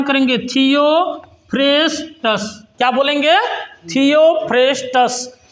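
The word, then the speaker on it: Theophrastus: देते हैं थियो फेस्टस कौन थियो फेस्टस कैसे उच्चारण करेंगे थियो फेस्टस क्या बोलेंगे थियो फेस्टस है ना बटनी का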